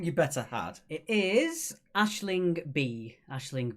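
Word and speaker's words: Aisling Bea: It is Ashling B. Ashling B for number 5. Don't worry about the spelling. As with most Irish names, they're not phonetically correct as they look. So it's Ashling B.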